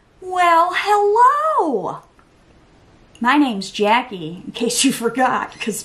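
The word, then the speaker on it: Jacqie: But yeah, it's spelled with a Q, not a K, and there's no U. No U. J-A-C-Q-I-E. Jackie.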